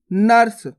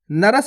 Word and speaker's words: नर्स: नर्स नर्स। नरस नहीं पढ़ना, नर्स।